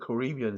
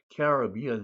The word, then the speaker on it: Caribbean: Caribbean, the Caribbean Sea 또는 the Caribbean Sea라고 양쪽으로 팽팽하게 발음됩니다.